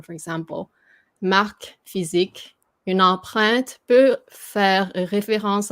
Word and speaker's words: empreinte: You just almost say it as 2 syllable, although it is 3 syllable. But this syllable becomes more like just a t.